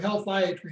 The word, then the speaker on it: healthiatry: And so the principles of healthiatry, and that's the practice that I'm involved in. It's like psychiatry, only it's Healthiatry is how you pronounce it.